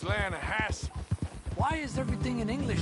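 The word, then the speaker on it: Hetch Hetchy: the other day I rolled down to the Lana Hetchy River I caught some beautiful steelhead trout you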